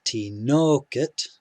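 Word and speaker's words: תינוקת: second to last one the next word is t nokit t nokit with the stress on no tinokit here we have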